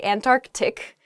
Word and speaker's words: Antarctic: saying this word quickly you might leave out that first sea in the Antarctic so don't say that don't do that say Antarctic the the very very